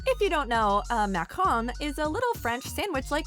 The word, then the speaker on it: macaron: If you don't know, a macaron is a little French sandwich-like cookie, the only correct pronunciation of which is with an obnoxious French accent.